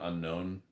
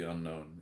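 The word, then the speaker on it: Unown: I'm seeing the Pokemon Unknown.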